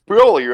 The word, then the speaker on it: Broly: It's Broly, right? Goku's brother's Broly. Nope. Have I always been been mispronouncing it? No, you're pronouncing it correctly, but that's just not the person you think it is.